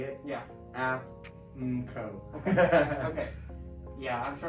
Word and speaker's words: Aapmco: The acronym for the business is technically pronounced Aapmco. Okay. If anybody ever wants to say it. Yeah. Aapmco.